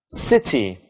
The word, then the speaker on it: city: Let's look at the first word, city. Do you know where the stress is? It's on the first syllable.